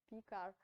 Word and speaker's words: Picard: well is the french french mathematician picard lindel picard so d is not pronounced i think right picard lindelof and